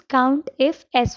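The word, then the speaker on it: COUNTIFS: you have to use count if s function so if you want to pronounce it it's count ifs count ifs meaning more than one if right so it's multiple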